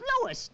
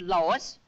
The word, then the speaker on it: Louis: Me name is Louis, not Lois. Chief Whiz, everybody interpolates me name wrong. It's Louis. L-O-U-I-S.